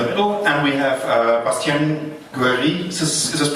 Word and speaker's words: Guéry: And we have Bastien Guéry, is this pronounced in the right way? Yeah. Guéry, okay, from the OLPC project.